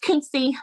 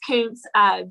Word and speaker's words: Kountze: It's spelled Kountze. A lot of people think it's pronounced Kuntze, but it's Kuntze, just north of Beaumont, about 20 miles.